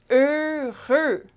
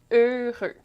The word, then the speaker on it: heureux: Heureux. Two syllables. Heureux. Okay? The sounds at the end of each of those syllables. Heureux.